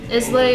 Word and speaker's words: Islay: Islay is great. Anything from Port Charlotte. It's not Islay, it's Isla. It's pronounced Isla. Isla.